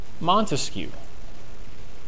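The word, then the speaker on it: Montesquieu: Montescu, that's how you say it.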